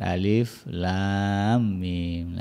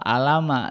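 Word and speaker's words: الم: Ya kayak begini misalnya yang dibaca dia bacanya Al apa Alama itu kan dikira-kira gitu kan padahal cara membacanya disebut nama hurufnya Alif Lam Mim Nah ada tiga huruf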